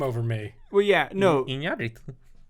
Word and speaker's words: Iñárritu: how you pronounce his name? Yeah. I mean, I would believe him over me. Well, yeah, no. Iñárritu. Say it. Iñárritu.